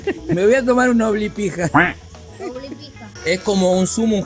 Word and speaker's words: Облепиха: Облепиха. Облепиха. Bueno. Me voy a tomar una oblipija.